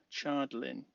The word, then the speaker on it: Chardlin: I kept saying it wrong the first couple of times. Chardlin.